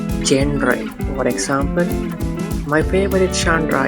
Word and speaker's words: genre: This is a French word. It's pronounced by genre, not genre.